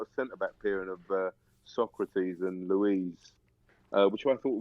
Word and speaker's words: Socrates: Was it Socrates or something? It is pronounced. Socrates.